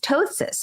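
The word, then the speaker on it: ptosis: drooping of the eyelid tosis so it's spelled PT o s i s i s sorry excuse me but we pronounce it toe as in t o e s i s Tois which is drooping of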